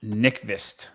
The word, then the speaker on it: Nyqvist: It's Sebastian Nyqvist.